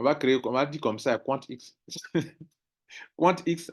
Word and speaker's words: QuantX: QuantX, vous voyez qu'ils ont mis le X en majuscule, non? Donc, ça veut dire que ça se prononce à pas, Quant et puis X.